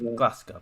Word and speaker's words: Glasgow: take glasgow or something glasgow yeah glasgow that that's how you say yep yes you said it right yeah glasgow angels take